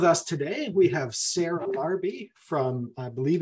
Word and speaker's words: Larbi: welcome Sarah thank so much I hope I pronounced your name correctly and it is yes it is it's Sarah larby and then H the Resort's actually called Inspire